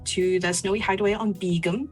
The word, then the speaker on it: Begum: the snowy hideaway on begum which is spelled b-e-g-u-m everybody thought i was saying beacon but i wasn't i'm saying um they